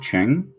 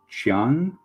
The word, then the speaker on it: Chiang: one was done by cliff cheng or chiang cliff cheong i believe is the pronunciation um which is a